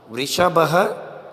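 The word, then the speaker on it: वृषभः: वृषभ ध्यान से सुनिए जो लास्ट में दो बिंदी है बेटा उसका जो उच्चारण है वो होता है ह याय आगे जहां पर भी थोड़ा बहुत बदलाव होगा मैं आपको बताऊंगा वृष बह बैल गर्द बह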